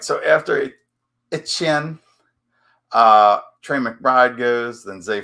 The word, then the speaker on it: Etienne: It's just a French pronunciation of a French last name, Etienne.